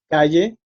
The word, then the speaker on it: calle: Calle, sargento, resumen. Okay, so if you notice, these words, also like tesis, caravana, cabo, they have the strength in the penultimate syllable, the second to last syllable, right?